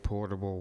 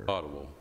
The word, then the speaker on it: potable: Just for clarification, it says grant awarded to the county to provide safe, portable water. What exactly is portable water? Potable.